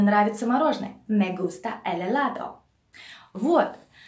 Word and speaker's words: helado: Me gusta el helado. Вы знаете, что у испанцев H буква H, оно не читается.